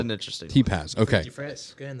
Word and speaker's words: Tepas: Is that how I say it right? T-Paz. T-Paz. Like a Z.